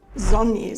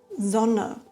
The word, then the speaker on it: Sonne: Passe auf, dass du nicht Sonny sagst, sondern Sonne, Mode und Name.